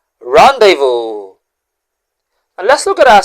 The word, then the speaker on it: rendezvous: Now, let's pronounce the word this way. Rendevo. Rendevo.